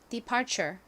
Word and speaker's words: departure: 자, 발음해 볼게요. departure.